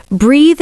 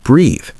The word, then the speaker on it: breathe: Saying breath when you mean breathe. The E at the end lengthens the vowel. Remember, breathe rhymes with seethe.